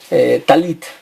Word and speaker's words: talit: Talet es en sefardí y en ashkenazí es talit.